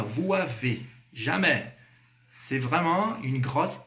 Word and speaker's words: vous avez: Ó, a pronúncia correta é sempre com a liaison. Vous avez. Vous avez, som de Z, beleza?